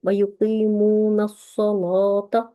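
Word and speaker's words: وَيُقِيمُونَ الصَّلَاةَ: ये जो अस्सलात है, अलिफ लाम इसके साथ है, ये मारिफा है, लेकिन हम इसको पढ़ते हैं वयुकीमूनस्सलात। तो अब ये जो नून को हम सौत से मिलाते हैं, अलिफ लाम को हम साइलेंट कर देते हैं, खामोश कर देते हैं, उसको नहीं पढ़ते।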